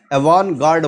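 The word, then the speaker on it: avant-garde: हैं आवां एवन गर्ड इसको अवन पढ़ेंगे टी साइलेंट होगा अवन गर्ड बोलेंगे एवान गर्ड का मतलब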